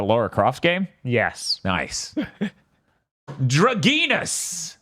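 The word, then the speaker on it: Dragnas: crof game yes nice dragus which is how they say it oh is it yes drus which is d r a g n a s comes out and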